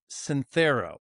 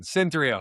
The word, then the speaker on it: Synthreo: Sapion from Ctho. Did I pronounce that correctly? Cyntho. It's a fun. It's a fun one. Cynthrio.